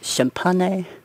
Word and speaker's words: Champaign: But yeah, Jason Williams out of Champaign. I don't know how to say that, but I'm pretty sure that G is silent.